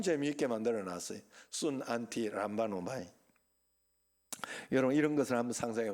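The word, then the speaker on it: συναντιλαμβάνομαι: 그게 바로 순, 안티, 람바노마이 그러는 거. 순, 안티, 람바노마이. 한번 따라합시다. 순, 안티, 람바노마이. 요 마지막에 잘 발음이 안 돼.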